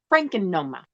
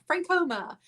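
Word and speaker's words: Frankoma: have to concentrate now francoma pottery but i always call it franken noma oh i say from frank homer francoma i just call it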